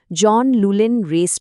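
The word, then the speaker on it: John Llewellyn Rhys: আর হ্যাঁ, উনি যে বিশেষ পুরস্কারটি পেয়েছিলেন তার উচ্চারণটা খেয়াল রাখবেন, জন লুলেন রেস প্রাইজ।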